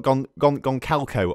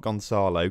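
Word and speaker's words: Gonçalo: Look, we've got Goncalco on the ball there. Goncalco, not Gonzalo.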